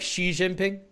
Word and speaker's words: Xi Jinping: really pronounced Xi, but G is totally wrong. Oh, okay. That actually means chicken in Chinese. Which maybe I should adopt, but... I appreciate the correction. I mean, I sort of feel free to mispronounce French words, but just to irk the French. But I'll try to be a little more careful. Okay, so it's more like Xi Jinping?